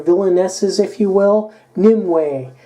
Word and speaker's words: Nimue: s's if you will new way or Nimue ee or however ever you say it but I pronounce it Nimoy anyway this is a